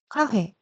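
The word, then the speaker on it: カフェ: 문장으로 돌아가서 카페는 카페 발음 되게 어려워요. 카에 강세가 있고 페는 화회 단지할 때 회라고 발음해 주셔야 해요. 카페 발음을 3번 연습해 볼게요. 카회, 카회, 카회.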